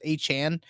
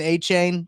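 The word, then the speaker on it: Achane: think I think uh his pronunciation guide now says Hey Chan um I I was always saying a chain that's what I had always been I was saying too I thought it was a chain but it's a Chan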